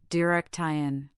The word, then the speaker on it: direction: The word direction has stress on the second syllable, direction.